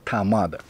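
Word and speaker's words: 他妈的: языке есть замечательная фраза которая произносится как амада вот так вот она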